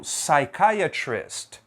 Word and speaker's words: psychiatrist: parecida né é o psychiatrist psychiatrist também não pronunci o p e aqui eu não vou dizer pissom pissom negativo a pronúncia aqui é som som eu começo direto na letra S Você viu que todos